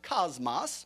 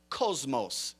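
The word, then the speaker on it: κόσμος: Some would pronounce it cosmos, but it's cosmos.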